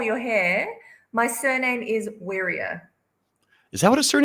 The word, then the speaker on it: Wirya: do you want to fix your last name pronunciation which which do you I can't control your hair my surname is warrier is that what a Sur is I KN